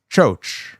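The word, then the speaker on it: Kyo: Spelled KY Yo Ki, but he pronounced it as Cho. So that's what I'm going to call him until somebody tells me otherwise. Uh his new name is Cho, which I looked it up.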